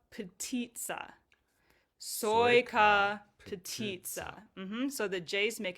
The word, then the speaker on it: sojka: Soya petit. Soya petita. So the J's make a Y sound and the C is a T. Petit. Okay, let's say that whole line again. I'll start. Zapia soya petita with me.